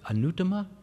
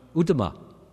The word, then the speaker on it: Uttama: Was it Anuttama? Huh? What? Uttama.